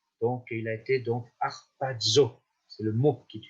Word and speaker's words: harpazo: Donc vous avez un mot en grec, c'est harpazo. Harpazo. Alors ce mot est un mot un petit peu particulier, ça s'écrit H-A-R-P-A-Z-O.